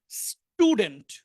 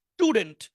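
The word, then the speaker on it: student: স্বাভাবিকভাবে teacher S এর পরে আসে তাহলে হবে স্টুডেন্ট স্টুডেন্ট স্টুডেন্ট এরকম হবে না স্টুডেন্টস এর পরে আসলে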